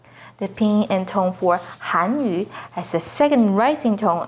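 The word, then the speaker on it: 汉语: The pinyin and tone for Hanyu is with the 4th falling tone on Han, Hanyu. The pinyin and tone for Hanyu has a 2nd rising tone on Han, Hanyu.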